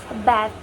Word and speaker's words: bath: For instance, the words bath. Bath. Bath. The word bath. In British, they pronounce bath. Bath. But in American English, they pronounce with bath. Bath. The different the differences between bath and bath.